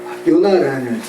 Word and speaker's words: 요나: 히브리어의 발음도 요나입니다. 네. 비둘기라는 히브리어 발음이 요나라고요.